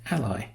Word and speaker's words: A11y: A11Y is often pronounced ally, as it happens to look like the English word ally, which suggests that you're allied to a particular cause, in this case accessibility.